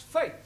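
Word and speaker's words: fete: for example f e t e is also pronounced Fai no one no no our feet I told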